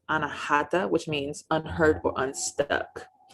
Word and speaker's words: Anahata: heart chakra is air in sanskrit it is pronounced anahata which means unhurt or unstuck the crystals that